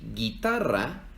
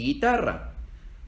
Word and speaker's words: guitarra: hay en el español porque si escribiéramos estas dos palabras sin la u se leerían mi gel y guitarra Entonces cuando se escribe G u e ig ui no se leen y we se leen como en Miguel y guitarra otros ejemplos son guerra